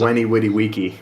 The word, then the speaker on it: veni vidi vici: And also V makes the W sound in Latin. Did you know this? Yes, So Veni Vidi Vici. He says Weni Witty Wiki.